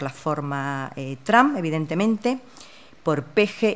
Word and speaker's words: Peje: Allí Peje se pronuncia como Peje y alude precisamente a esa pronunciación aspirada.